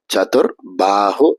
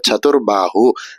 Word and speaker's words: சதுர்பாஹு: இதுல வரக்கூடிய சேவானது முதல் ச அப்படிங்கிறதுனால அழுத்தி சொல்லாம சதுர்பாஹு அப்படின்னு சொன்னா போறோம். இதுல வரக்கூடிய பாஹு அப்படிங்கிற வார்த்தையில ப அப்படிங்கிற வார்த்தை 3வது பாவா இருக்கிறதுனால சதுர்பாஹு அப்படின்னு சொல்லணும். மொத்தமாக அர்ச்சனையாக செய்யும் பொழுது சதுர்பாஹு